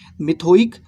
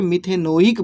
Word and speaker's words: मिथेनोइक: मिथोइक, तो मिथोइक नहीं बोल के मिथेनोइक बोला जाता है कि नहीं। मिथ है ना, मिथ जोड़ ओइक तो मिथोइक कहेंगे। तो सही ढंग से प्रोनाउंसिएशन करेंगे तो मिथेनोइक, है ना, मिथेनोइक अम्ल।